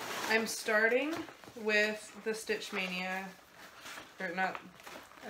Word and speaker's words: Maynia: a group on Facebook stitch mania but it's spelled ma y ni a and basically it started